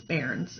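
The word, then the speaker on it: bairns: up because I didn't really know how to pronounce barons it's spelled b a.i r and s but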